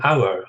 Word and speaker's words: hour: For example, we say an hour. Hour begins with H. It's a consonant, but we don't pronounce it, so it's an hour.